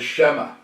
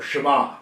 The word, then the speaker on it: Shema: He throws out there what is known in the Jewish theology as the Shema, or Shema, however you want to pronounce it.